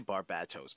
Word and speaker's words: Barbatos: I say Barbatos because the emphasis is on the bat. Because bat. And we're told that Barbatos saw Bruce use his